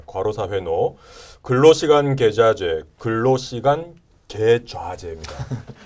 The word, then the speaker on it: 계좌제: 근로시간 계좌제, 근로시간 계좌제입니다. 발음에 좀 유의해 주십시오. 계좌제.